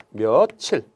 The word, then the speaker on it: 며칠: 원래부터 알고 있는 거죠 며칠 소리 들었어야 몇 일이라는 경우는 있을 수가 없어요 만일 몇 일에 경우였다면 은 그 어원이 그랬다면 몇 미리 라고 해야 되거든요 면 1 이은철 가 되면서 며칠이 라고 사람들이 발음 하니까 업무를 명확히 알 수가 없다 그렇다면 소리 대로 적어 버리자 그래서 며칠 이라고